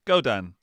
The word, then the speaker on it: Godin: So it's like the opposite of stay Dan. It's Godin.